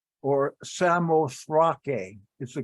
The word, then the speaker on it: Samothrace: It's called that because in verse 11, it says, from Troas, we put out to sea and sailed straight for Samothrace, or Samothrake is the correct pronunciation.